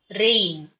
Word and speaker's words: reign: For example, REIGN, there is a word called REIGN, rain. You have to pronounce it rain. And RAIN is also rain.